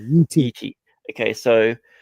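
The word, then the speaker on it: Yi Ti: Like, it's right on the borderline of how do you pronounce Yitai? Yitai or Yiti. I'm sorry, Yiti.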